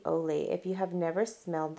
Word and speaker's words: Olay: say it correctly I I used to say ah lay but it's actually Olay if you have never